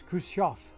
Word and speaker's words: Khrushchev: the V, as because the way they pronounced it on TV was Khrushchev. So I'm looking for an F at the end.